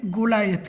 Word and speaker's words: Goliath: तो देखते हैं, ये स्टोरी है डेविड एंड गोलायत की। इसका प्रोनाउंसिएशन याद रखना, डेविड वो तो सिंपल है, एंड गोलायत, गोलायत तो ये इज़राइल कंट्री की स्टोरी है।